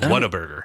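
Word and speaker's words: Whataburger: So, people's accents in the south have a little R there with a W. So, Waterburger. Go to Waterburger. So it sounds like water burger. It's what a burger.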